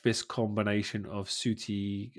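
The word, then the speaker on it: Ncuti: But now I feel like this combination of Suti, I think that's how you pronounce his name, Suti Gatwa and Suti Gatwa, Millie Gibson, I think have been brilliant.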